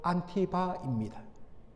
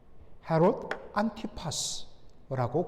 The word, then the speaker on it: 헤롯 안티파스: 오늘 본문에 나오는 헤롯 왕은 바로 헤롯 대왕과 사마리아 여인 말다케 사이에서 난 헤롯 안티바입니다. 헤롯 안티파스라고 그렇게 정식으로 발음이 됩니다.